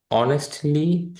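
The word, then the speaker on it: honest: Attentively, পরে correctly সঠিকভাবে, wrongly ভুলভাবে, অনেস্টলি সৎভাবে, ডিসঅনেস্টলি অসৎভাবে। এখানে অনেস্ট কিন্তু হনেস্ট না, এইচের উচ্চারণ হবে না।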